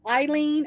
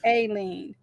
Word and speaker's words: Aileen: It's pronounced Eileen or Aileen. Aileen.